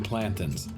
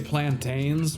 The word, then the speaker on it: plantain: of some very green plantins. I know a lot of people say plantains, but the correct pronunciation of the word is plantin, like mountain or fountain.